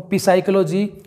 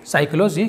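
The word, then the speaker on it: psychology: को पढ़ लेते हैं, वो पिसाइकोलॉजी या पसाइकोलॉजी कुछ अजीब तरह से पढ़ते हैं, जबकि ये होगा दोस्तों साइकोलॉजी, क्योंकि एन और एस के पहले पी साइलेंट होता है तो यहाँ पर हमारा एस आ रहा है दोस्तों।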